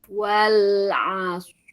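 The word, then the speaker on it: العصر: Wal asr itu mah tipis. Kalau ditarik rnya tipis. Oh ya. Heeh. Wal as. Nah, jadi si shadnya itu rhawahkan dulu ya. Asr. Nah, rnya sukunkan. Wal asr. Asr. Nah, silakan. Wal asr. Jangan ditarik bibirnya.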